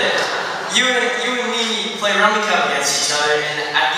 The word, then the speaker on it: Rummikub: Because Rummikub, or as some people that call it Rummikube. Why? It's pronounced Rummikub. There's no U-E at the end.